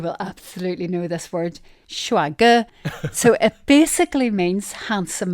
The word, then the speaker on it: 帅哥: Maybe it's just because I'm saying it wrong. I think it's shuage.